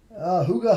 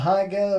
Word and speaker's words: Huga: Huga Homestead's with us, guys. That is how you pronounce that. It's not Higa or Higa. It's Huga.